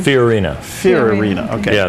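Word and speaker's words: Fiorina: say your last name furina Fen okay yeah it's kind of like Ferrari okay but not quite all right well I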